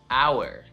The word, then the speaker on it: hour: How about hour? You have 2 hours to finish the project. Hour. Doesn't really do much there either.